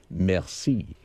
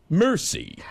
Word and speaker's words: merci: at it, you say merci. But when the way Brad pronounces it, it's really embarrassing. He gets it and he gets the bill and looks at it and says, mercy.